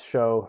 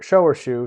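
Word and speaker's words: 熟: I pronounce show or shu, shucha, usually show pu'er is usually how I pronounce it.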